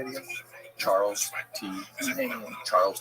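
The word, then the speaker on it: Chas. T. Main: Charles T. Main. Charles T. Main. Yeah, it's spelled CHAS period T period M-A-I-N. Oh, Chas T. Main. Yeah, but it's Charles.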